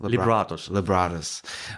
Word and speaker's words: Libratus: So in 2017, Libratus, how do you pronounce it? Libratus.